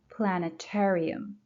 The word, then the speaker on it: Planetarium: Adler Planetarium. Adler, first syllable. Planetarium, third syllable.